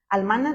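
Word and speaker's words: אלמנה: Así como se escribe, así como se escuche, almana, nada más terminación H.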